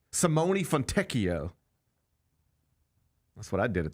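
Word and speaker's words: Simone Fontecchio: You got time to learn pronunciations of NBA players you never even knew existed. Yep. All right. So, it's Simone Fonteio.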